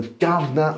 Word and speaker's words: Guv'nor: I could pronounce as a Londoner I can pronounce it it's called The Gardener it's the governor VIP um it's a wine market in the